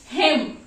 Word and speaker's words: hymn: उसको क्या बोलते हैं, हिम। प्रोनाउंसिएशन क्या होगा, हिम, लेकिन लिखना क्या है, HYMN, ठीक है।